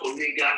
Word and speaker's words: omega: In the capital, this is how omega is written. In the small letter, it is written like a small capital W letter, and it is pronounced as long O as you have in tone.